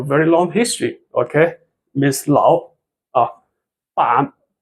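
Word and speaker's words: 老板: So we read 老板, not 老. Okay, it becomes a right tone.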